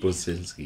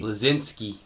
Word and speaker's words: Bleszinski: Cliff Bleszinski. Bleszinski. Bleszinski.